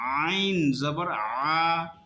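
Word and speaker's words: عين: এরকম করা যাবে না, মুখ একদম নর্মাল থাকবে। উচ্চারণ হবে মাঝখান থেকে।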